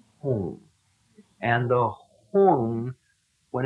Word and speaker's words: Hum: Mane, Padme, Padme, Padme, Hung as if it were spelled H-N-U-N-G, Hung, Hung. And the Hung, when it's working right, resonates in your chest.